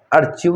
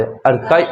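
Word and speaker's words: archive: अर्चिव नहीं बोले, अर्काइव इसका वास्तविक प्रोनाउंसिएशन अर्काइव है।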